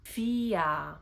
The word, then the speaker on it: vier: vier On the other hand, the combination of E and I make the sound ein zwei drei. When the R is after a vowel, it makes the sound ah, vier.